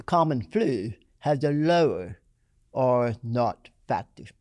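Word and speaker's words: R0: not it is our zero but it is pronounced or not it's a messy metric that is shorthand for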